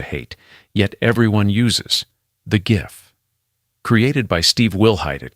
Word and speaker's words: GIF: yet everyone uses, the GIF. Created by Steve Wilhite at CompuServe in 1987, and yes, he famously said it's pronounced "jif", though the world is still fighting about it.